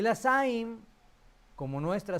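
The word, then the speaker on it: זַיִן: Entonces, la siguiente es la saim. La pronunciamos como nuestra Z, eso no hay ningún problema. Z, saim.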